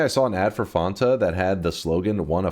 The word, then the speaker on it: Fanta: until chat was like, "It's was made in Germany. It's supposed to be pronounced Fanta." And I was like, "What?" And yeah, and then I looked it up. Apparently, it is supposed to be Fanta.